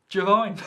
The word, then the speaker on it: Iovine: push the service in the form of Jimmy Giovine. And I am pronouncing it correctly. The Italian pronunciation for Giovine, which is spelt with an I, is Giovine.